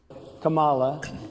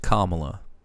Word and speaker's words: Kamala: like what is this Camala uh I was told my opponent was going to be here her name is pronounced Kamala it turned out my opponent